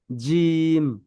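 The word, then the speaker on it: جيم: বলেন আরবি হরফ বলেন জিম জি জিম জি ঠিক আছে জিব্বার মধ্যেখান তার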